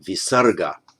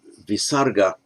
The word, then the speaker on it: visarga: the subdotted h and on its own is pronounced as a kind of rough sound with an echo vowel at the end so namah uh and